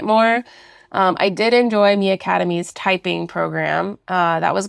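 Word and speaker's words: MiAcademy: we have experimented with me Academy which is spelled Mi Academy um I Heard rave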